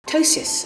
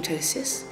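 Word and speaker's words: ptosis: tosis first of all it's an unusual word it's spelled p t o s i s and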